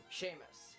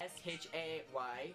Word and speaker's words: Seamus: Seamus. Seamus. Seamus. S-H-A-Y. Seamus. Seamus. And the last name is Sean.